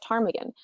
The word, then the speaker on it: Ptarmigan: They wanted to call it Ptarmigan, but none of them could agree on how Ptarmigan was spelt. For those of you who don't know, there's a silent P at the front of it.